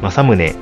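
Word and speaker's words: 正宗: もりが、江戸の人々は訓読みで読んでしまい正宗という読み方で定着したんですよね。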